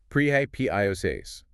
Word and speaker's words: propitious: pronunciation. Propitious.